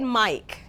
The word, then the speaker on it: Mike: So let's look at Mike. We have a long I in Mike, and there is a silent E. The same is true with Ike. The I is a long vowel sound, and the E is silent.